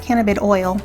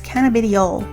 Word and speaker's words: cannabidiol: new category called cannabidiol, it's not cannabid oil, it's cannabidiol. I still don't know if I'm pronouncing it right because I only read it.